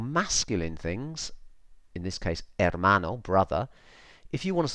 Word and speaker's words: hermano: erreur mono and again you got that H which I've put in red is silent hermano okay so it's pretty